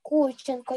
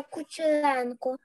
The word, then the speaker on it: Кучеренко: Можете мене не називати Кученко, я Кучеренко.